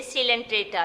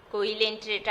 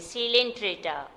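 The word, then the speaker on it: Coelenterata: ये है सिलेंट्रेटा, लिखते हैं ऐसे ही कोइलेंट्रेटा, लेकिन ये है सिलेंट्रेटा। कोइलेंट्रेटा आप नहीं इसको पढ़ेंगे, सिलेंट्रेटा।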